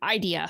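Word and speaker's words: Eidyia: Okay, that's idea. Idea. Okay. E-I-D-Y-I-A. Idea. Oh, idea. Like the emphasis on the first syllable.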